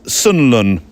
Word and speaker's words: Sunderland: you mention Craig from Sunderland land although if you were local it would have been pronounced Sunland and then add land with Craig struggling to